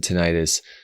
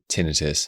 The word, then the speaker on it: tinnitus: Now, some pronounce it tinnitus. As an audiologist who trained at a major hospital in San Francisco, I learned that most doctors pronounce the word tinnitus.